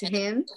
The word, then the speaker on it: hymn: brown asked the first him h i am the second h y and n right m-m for h-y-m-n of course the n at the end is silent you don't say the silent letter very good yes okay